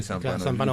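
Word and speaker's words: Zampanò: Pero es una pronunciación. Pero ellos lo dicen así, Zampano.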